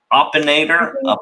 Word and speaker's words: Opinator: want to butcher it opinator is it like opinionator like opinion yeah pocket I used the